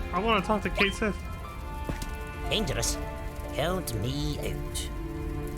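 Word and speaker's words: Cait Sith: Oh, I want to talk to Kate Sith. Dangerous. Count me out. Ketchi. That's a cute pronunciation too.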